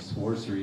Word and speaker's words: Sworcery: said we're talking about this thing called sword and sorcery you got to really pronounce the extra W and uh the talk